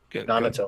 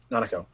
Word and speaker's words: Nanako: Because like Nanato or Naoto or however you say her name, Naruto. Nanako. Tojima's kid. Nanako.